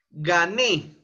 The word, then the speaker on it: gané: Ejemplo, gané. Gané. La sílaba tónica está en ne.